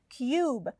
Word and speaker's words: cube: it sounds different so cub has a short u and cube has a long u with an e in the end okay now we're ready